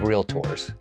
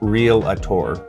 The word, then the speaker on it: realtor: the National Association of Realtors it's realtor not real a tour so good job I